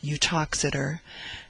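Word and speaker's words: Uttoxeter: speaks of the Town its name is pronounced utox as being about 9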